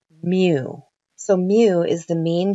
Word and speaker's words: mu: a longer tail on the left side it's pronounced mu so mu is the mean GPA of the